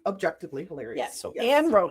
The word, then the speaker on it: Anne Roe: Put A-N long, R-O with a long.